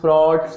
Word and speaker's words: Froude: ठीक है, इसका प्रनाउंस फ्रॉड्स करो या फ्रॉज, मैं तो फ्रॉज ही करूंगा जनरली।